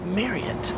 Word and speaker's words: Marriott: price of this Marriott it's pronounced Mary you should know about